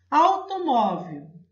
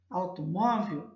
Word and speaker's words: automóvel: Automóvel. Automóvel é a penúltima sílaba que é a mais forte, que é a sílaba tônica.